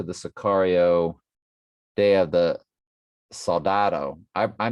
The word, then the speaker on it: Soldado: It's sold, ADO, like you sold your sneakers. Soldado, Day of the Soldado. So, my apologies for mispronouncing it. I was calling it like Salada.